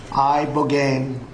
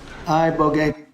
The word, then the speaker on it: ibogaine: injuries underwent, it's called ibogaine treatment. Ibogaine. Remember the name. Is that pronounced relatively properly, would you say? Yes. I don't want to get it wrong. Ibogaine. Body. Ibogaine. Rogaine with an ibo.